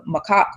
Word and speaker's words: macaque: monkey, and it's spelled Macaque. And I tried to research how you pronounce it, and from what I can come up with, it's like macaque or Yeah, something like I that.